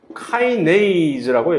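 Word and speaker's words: kinase: 영어로는 이것을 카이네이즈라고 얘기합니다. 또는 키나제라고, 키나제나 카이네이즈나 똑같은 얘기인데 발음을 어떻게 하느냐에 따라서 토마토라고 발음을 하느냐, 토메이도라고 발음을 하느냐의 그 차이지.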